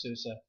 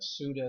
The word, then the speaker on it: Sousa: all the time so my last name is susa i grew up as a kid with the suda sauda nobody seemed to be able to pronounce the name so i totally feel